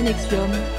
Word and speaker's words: NXIVM: organisations dont les deux principales la plaine 4 prononcé nexium une de plusieurs villes apam s'étaient notamment